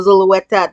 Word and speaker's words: Zulueta: Zulueta. Did I say it right? Zulueta.